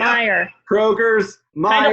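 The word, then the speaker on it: Meijer: People who put an S on the end of retail stores Myers. for no reason. Yeah, Is it just Meyer? Did I say it wrong? it's Yeah. Meyer.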